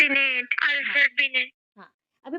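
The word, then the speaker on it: Binet: बोला था ना अल्फ्रेड बनेट बनेट अल्फ्रेड बनेट अभी प्रोनंसिएशन में आता है बिने बट लिखा जाता है बिनेट ठीक है प्रोनंसिएशन में आएगा बिने बट लिखा जाएगा बिनेट देखो अभी एक आया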